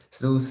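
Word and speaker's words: snus: so let's see snooze snooze is awesome it's spelled s-n-u-s just FYI both of you snooze don't don't put it like as if it's a snooze button on them alarm clock you know like I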